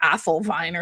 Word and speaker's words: Adolwyn: It's ADOLWYN, and it's actually Welsh, so it's pronounced like Athelvine or something like that.